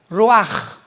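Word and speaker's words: רוּחַ: Pero la ch en el hebreo se pronuncia como j. Roaj.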